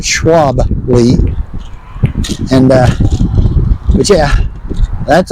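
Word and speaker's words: Schwalbe: I think that's how you pronounce it. Schwabi. Schwabi. Yeah, not Shabbi, but Schwaby.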